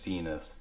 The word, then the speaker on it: Zenith: Actually, I looked it up and it is Zenith.